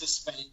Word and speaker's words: Despain: Did I pronounce that right, or is it Despain? It's Despain.